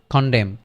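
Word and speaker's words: condemn: তাহলে এইচ এনটা উচ্চারিত হবে না। তাহলে এটা কি হবে? খন্ডেম। খন্ডেম খন্ডেম সি ও এন ডি ই এম খন্ডেম খন্ডেম just লিখার সময় এনটা লিখবো বলার সময় আমরা শুধু এম পর্যন্তই থেমে যাবো তাইলে খন্ডেম খন্ডেম খন্ডেম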